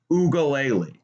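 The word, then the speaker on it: Uiagalelei: DJ Ugalele is how you pronounce that guy's name.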